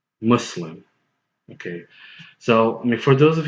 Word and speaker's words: Muslim: to the word Muslim the most correct and accurate is Muslim okay so for those